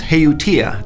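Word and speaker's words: Haootia: Take, for instance, Heutia, that's how I think it's pronounced.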